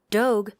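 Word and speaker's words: Dogue: eaten in two seconds Doge to rhyme with Vogue just opened up in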